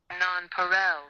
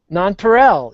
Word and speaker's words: nonpareil: And it pronounced Put it into your mic. Oh, okay. Hold on. Nonpareil. Nonpareil.